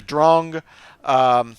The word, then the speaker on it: Drang: So right here, the Drong, most people would say Drang, but that is actually a German word taken from a piece of classical music.